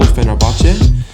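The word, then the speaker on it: Fenerbahçe: onat kazakh he's from turkey rose for istanbul fenerbahce i've pronounced that club's name correctly that's a well-known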